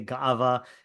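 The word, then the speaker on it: גאווה: Gaiva. Gaiva, right? Or yeah, Gaiva. Ashkenazim say Ga'ava. If people pronounce things correctly, but we'll say Gaiva because we're Ashkenazim.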